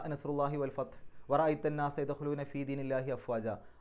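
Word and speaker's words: في دين الله: ആ ദീനു എന്നുള്ളതിൻ്റെ മുമ്പിൽ ഫീ വരുമ്പോൾ ഫീ ദീനി എന്നാവും. അപ്പോൾ ഫീ ദീനില്ലാഹി, അവിടെ ഉച്ചാരണം അള്ളാഹു എന്നുള്ളതിന് പകരം ഇല്ലാഹി എന്നുള്ള രൂപത്തിലേക്ക് മാറും, ഫീ ദീനില്ലാഹി.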